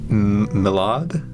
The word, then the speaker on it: Mylod: Directed by Mark Mylod. Mylod? Mylod? Mylod. I would assume. Yeah. Mylod. Well, But there's no I. there's no I in it. Lloyd is usually spelled with an I.